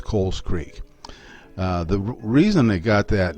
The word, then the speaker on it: Cowles Creek: I found out that the right pronunciation is Cowles Creek, like C-O-L-E-S, Cowles Creek.